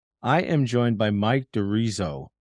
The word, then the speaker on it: D'Arezzo: I'm the host of the program, and today I am joined by Mike DeRizzo. Did I get that pronunciation right? You know what? You good enough, close enough. It's DeRizzo.